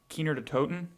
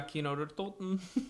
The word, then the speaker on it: Kino der Toten: I never pronounce it right. I pronounce it Keener de Toten. yeah, Kino der Toten.